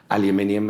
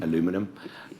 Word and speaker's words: aluminium: sort of mentioned they're steel aluminium as I pronounce it I believe you say an aluminum that kind of thing